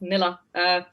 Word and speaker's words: Nila: Hi, I'm Nila. The easy way to pronounce it is like vanilla. That's how I tell everyone. So it's like vanilla, but without the va. So it's just Nila, which means moon in Tamil.